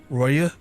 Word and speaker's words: Roaille: Roaille, apparently it's pronounced Roaille, because France.